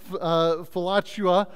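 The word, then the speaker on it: philautia: fact one of them falachua all right it's if you say it really fast you might sound like flatulence but don't say it like that all right um right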